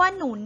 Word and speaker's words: หนุน: หมาย ถึง ช่วย เหลือ มี คำ ว่า หนุน นะ คะ เป็น อักษร นำ หอ หีบ นำ นอน หนู นะ คะ ออก เสียง เป็น เสียง สูง นะ คะ ต่อ ไป คำ ว่า